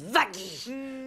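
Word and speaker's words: Vaggie: la bouchère ma chèrees bonne fois pour toute ça se prononce vagi c'est une ange en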